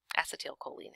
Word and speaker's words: acetylcholine: which contain acet acetylcholine acet Coline is actually how you're supposed to pronounce it um acetal choline is stored in these